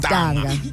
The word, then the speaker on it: Mtanga: So I had pronounced it incorrectly. Yeah, we kept on saying Mtanga.